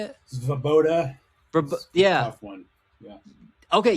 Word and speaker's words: Svoboda: Svoboda.